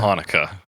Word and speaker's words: Chanukah: But I don't know how you're supposed to pronounce it, but it's not a CH. No, certainly not. I Not imagine you a pronounce it ch. Hanukkah.